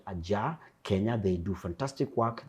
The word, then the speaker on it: Ajar: Ajar. It means we've left the door ajar.